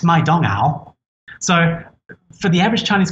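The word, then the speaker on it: 麦当劳: english letters mcdonald's because in china mcdonald's isn't mcdonald's it's my dong owl so for the average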